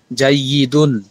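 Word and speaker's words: جيد: ছোট জাইয়েদুন জাইদাতুন ভালো শেষের শব্দের উচ্চারণটা একটু ভালো করে শুনেন জাইদুন জাইদুন জাইদাতুন জাইদুন জাইদাতুন ভালো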